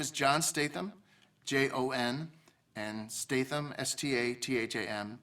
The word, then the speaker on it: Statham: My name is Jon Statham, Jon, and Statham, Statham. It's kind of like Statham, but pronounced Statham.